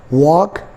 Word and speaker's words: walk: For example, I have three words: walk, talk, chalk. L is between A and K, so that is why we are not pronouncing L here.